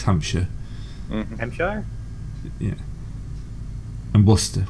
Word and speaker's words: Worcester: And Worcester. Worcester's the one that always gets you guys.